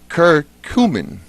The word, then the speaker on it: curcumin: my dear wife made me make sure I pronounce this right the stomach well inside some of it is curcumin I see you are see you in my